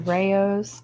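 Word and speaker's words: Rao's: sauce I could find, which was a Rayo's. That's how you say it.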